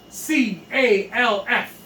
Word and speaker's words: calf: C-A-L-F. C-A-L-F. The L is silent.